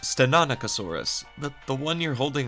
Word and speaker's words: Stenonychosaurus: This is a stenoaurus. And I have no idea if I'm saying that right. So, Spino dude, please help me if I am wrong. It's pronounced Stenanicosaurus, but the one you're